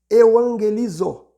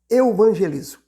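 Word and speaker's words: εὐαγγελίζω: O termo evangelista deriva-se do verbo grego euangelizo, que é a palavra que seria mais uma pronúncia mais aportuguesada, evangelizo.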